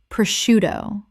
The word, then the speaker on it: prosciutto: Prosciutto. The SC makes an SH sound in Italian, which English has kept.